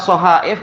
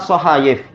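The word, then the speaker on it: صحائف: huruf Apa itu cuma yang Makruf adalah Bacanya adalah shahaif dan sebelumnya adalah shahayif cuma dulunya bagaimana awal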